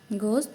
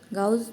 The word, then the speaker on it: Gauss: लोग बात करते हैं गोस थ्योरम की गाउस भी बोलते हैं इसको कुछ लोग जैसे भी प्रोनाउंस करो आप गाउस थोरम या फिर हम बोलेंगे